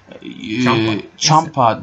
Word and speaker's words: Ciampa: Ciampa diye okunuyormuş.